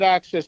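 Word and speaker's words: AXS: and four people get access TV which is spelled ax s its own it's a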